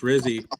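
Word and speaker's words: Rizzi: talking about uh coach Rizzy I follow Alvin Kamar on X nine hours ago he tweeted my vote for head coach rhymes with fizzy um so that says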